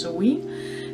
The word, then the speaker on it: Samhain: So this month's box, which is April, is dedicated to something that's spelled as Samhain but actually pronounced Samhain, and this is odd for those of you in the Northern Hemisphere because usually this is Halloween.